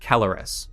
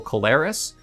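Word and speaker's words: Keleres: Now, we have the Council Kelleris, or as I used to pronounce them, I guess wrongly, Council Calleris.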